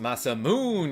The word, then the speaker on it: Masamune: Karma, it's pronounced Masamoon.